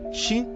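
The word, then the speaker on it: 四: No Japão, o número 4 é considerado azarado porque sua pronúncia, shi, soa como a palavra para morte.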